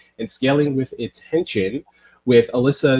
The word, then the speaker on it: Elissa: So my first name is Elissa. I like the mnemonic device for that is Melissa without the M.